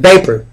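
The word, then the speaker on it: Vepar: a lion bolivar and vapor look like water think of the word vapor right uh vapor is like water vapor or vapor is the uh vapor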